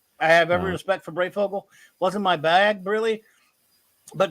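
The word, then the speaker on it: Breyfogle: Brayfogle.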